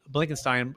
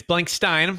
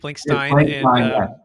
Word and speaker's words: Blankstein: transactions please welcome the show with me blankenstein uh how you doing sir good how are you bro thanks for having me and it's blank stein let me pronounce that correctly blank stein yes and so for our listeners getting to